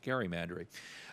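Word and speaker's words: gerrymander: redistricting and and and Jerry Mander which used to be pronounced Gary mandry um I think that's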